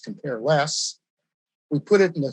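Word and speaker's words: cmp_less: a function template named cmp less which i pronounced compare less we put it in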